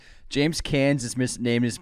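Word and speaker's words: Caan: my best here and you said James Khan It's can I'm gonna can you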